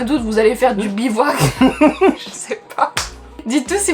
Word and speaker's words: bivouac: Bibac? Bibac. En français, ça prononce légèrement différent. Bivouac.